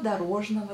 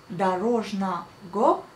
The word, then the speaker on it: дорожного: Donc, дорожного, faites bien attention, on écrit дорожного, mais on prononce дорожного. Oui, vous allez dire c'est bizarre, mais effectivement, on prononce les A et on prononce le V.